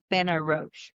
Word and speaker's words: Benarroch: Representative Iet Ben Ro.